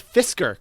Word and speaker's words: Fisker: know what would be really funny about the Fisher Karma is that what it's called the Fisher Karma Fisher karma Fisher and spelled like Karma two separate words I'm seeing it it's Fisker Karma Fisker FIS keer Fisker oh yeah you're